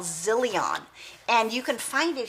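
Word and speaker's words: Zyllion: by a company called zillion and you can find it here on amazon it's um let me spell it for you because it's not the way you think it's it's spelled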